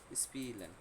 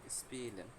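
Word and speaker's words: spielen: ই হবে, লম্বা করে স্পিলেন, ঠিক আছে, স্পিলেন, এভাবে না, স্পিলেন, একটু হালকা একটু টান দিয়ে হবে স্পিলেন।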